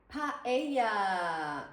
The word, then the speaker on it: paella: The A and the E are both so open. Ae, paella, paella. Paella is the right way to say it. Paella. so it's pa and then ella.